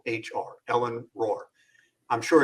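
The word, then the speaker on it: Rohr: Her name is spelled R O HR. Ellen Roar.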